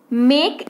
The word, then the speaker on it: make: फिर है मेक, MAKE, मेक, तो एम के बाद ए है लेकिन ए के बाद फिर क्या है, के को छोड़ करके ई है, तो सेम रूल लग जाएगा। मेक यानी कि बनाना, उच्चारण क्या होगा, मेक।